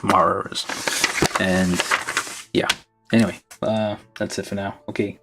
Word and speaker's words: Marz: bought it because it's called cyber Troopers virtual on Mars you have to say it like that Mars and yeah anyway uh